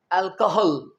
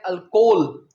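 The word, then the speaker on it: alcohol: अगला वर्ड है अल्कोहल। कई स्टूडेंट्स इसे बोलते हैं अल्कोहल। जी नहीं इसे आपने कहना है अल्कोहल।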